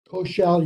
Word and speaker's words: Koechel: Okay, I call the case of Dean Koechel. Is that right? You gave me education regarding of how to say it before, and is it Koechel? Koechel, Your Honor. Koechel. I say accent on the second syllable.